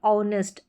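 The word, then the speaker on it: honest: ये जो स्पेलिंग्स है यहां पर ऑनेस्ट एच जो शुरू में आ रहा है और यह ऑनर आर तो यहां पर जो है एट साइलेंट है बिल्कुल इनको आप ऐसे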